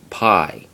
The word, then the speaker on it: π: But it is actually pronounced P in both ancient Greek right through to Koine Greek, and even right through to modern Greek. It is pronounced P, not pi.